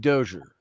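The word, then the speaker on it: Djoser: at the stepped pyramid of dozier if you want to say it right d-j-o-s-e-r and uh the heb said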